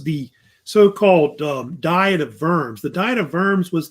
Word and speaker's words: Worms: Empire they met at vers which is which is in Germany the W is pronounced with a V and at the time